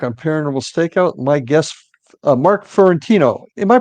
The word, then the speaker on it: Fiorentino: My guest, Mark Fiorentino. Am I pronouncing that correctly, Mark?